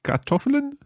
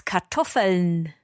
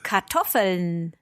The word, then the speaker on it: Kartoffeln: With potatoes mit Kartoffeln? Ja, fast. The structure was correct, but the pronunciation was a little bit off. It's Kartoffeln. Oh, okay. See that again? Kartoffeln. Kartoffeln.